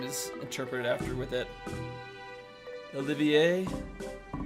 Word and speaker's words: Olivier: like his name is interpreted after with it Olivier however if you insist how about going